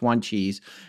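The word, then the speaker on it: Wanchese: second tribal member named juan cheese and we did look that one up w-a-n-c-h-e-s-e but we looked at an algonquin pronunciation chart and i i'm pretty sure it's one cheese and monteo possibly but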